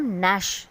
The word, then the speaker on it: gnash: GNAT को हम नैट और GNASH को हम नैश प्रोनाउंस करेंगे.